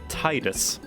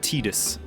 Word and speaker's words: Tidus: titan and i guess this confirms that it's pronounced titus not tidus oh what's that look